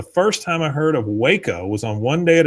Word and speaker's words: Waco: Artie says the first time I heard of Waco was on One Day at a Time, and the joke was that Schneider pronounced it wacko.